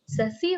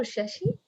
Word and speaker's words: Sasi: Sasi or Shashi? Ani. It's both, Ani.